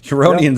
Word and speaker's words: Huronian: Huronian zone.